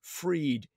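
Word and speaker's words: Freyd: memory syndrome foundation was founded by Peter J freed his surname is spelled F r ey d he founded the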